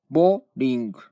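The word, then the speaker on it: боулинг: のがロシアですボリングという発音ですロシアはぼーりんぐですですので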